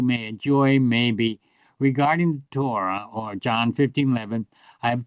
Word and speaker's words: Torah: We use the word law for Torah, but it's really Torah as we say it in Hebrew because accent falls on the last syllable, Torah. But when English, we say Torah, and so do the Jewish people use the word Torah.